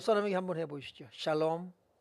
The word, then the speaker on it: 샬롬: 샬롬은 발음이 정확하지 않아도 돼요. 왜냐하면 살롬이라고 말할 테니까. 샬롬이 아니면 살롬이라고 한단 말이에요.